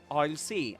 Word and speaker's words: I'll: So, this was I'll see. I'll see if Rowan can help. And you pronounce that like this. I'll I'll see. I'll see. It rhymes with hi.